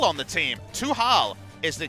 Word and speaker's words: Tuhal: But we have Tal on the team. Tuhal is the correct pronunciation.